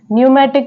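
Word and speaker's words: pneumatic: next word है न्यूमेटिक न्यूमेटिक में जो पी है वो यहां पर साइलेंट है नेक्स्ट वर्ड है सूडो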